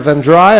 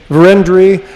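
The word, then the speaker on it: Vérendrye: was put here by the van dry i believe that's correct pronunciation verendry uh who put this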